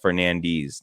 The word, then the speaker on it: Fernandes: Tammy says, he's Cape Verdean, so it was colonized by Portugal, so it's pronounced Fernandes, D's, LOL. Yeah.